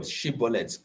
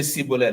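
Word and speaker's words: Shibboleth: If you are not able to pronounce the word Shibolet correctly, you say Sibolet, like those who came from Oyo State. Who cannot say she.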